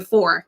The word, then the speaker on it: Fore: Fore. I'm saying that right, like your last name, Fore, correct? Yes, that's right. Everybody pronounces it wrong, but thank you.